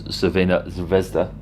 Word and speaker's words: Crvena Zvezda: Coming out 3rd in a group of Red Star, who I should actually pronounce as Crvena Zvezda.